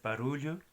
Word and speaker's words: barulho: El sonido es como Y, LY. Así que hay la palabra de trabajo, sería trabalho, LH, Y. Ruido es barulho, LH, O, etc.